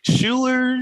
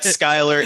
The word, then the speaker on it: Skylar: They're like Schuyler, Schuyler. It's Skylar. It's no biggie.